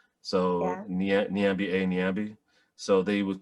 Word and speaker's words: Nyambi: So Nyambi. So they would call me Like it was just like they would do they would do things like that. My name rhymes with Bambi, so they'd call me Bambi.